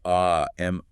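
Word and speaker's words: אָמוֹן: Yes, wisdom is described in verse 30 as the Aman, pronounced A-M-O-H-N.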